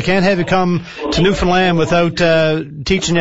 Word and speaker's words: Newfoundland: pronounce for me now you got a rhyme it with new with understand its Newfoundland you're from the land there you go Newfoundland aim for the land all right I got